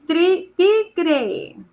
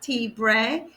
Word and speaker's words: tigre: El tigre. Not tigre. Tigre. With the G.